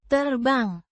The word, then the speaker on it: terbang: Pronounced. Terbang. With a clear separation between the syllables. The L. sounds like air, and bang is a hard, short sound.